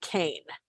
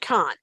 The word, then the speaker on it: Kahn: starting there with producer and i hope i'm pronouncing his last name correctly david kane is that uh i'm sorry con is it khan okay thank you i wasn't sure which one it was so david kahn i think uh star trek part two